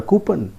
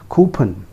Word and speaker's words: coupon: But that is not pronounced as coupon. It is pronounced as coupon. The correct pronunciation is coupon.